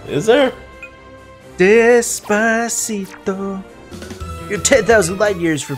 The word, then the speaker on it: Despacito: I keep seeing it and I keep pronouncing it Despacio. There's a T in there, dude. Is there? Despacito.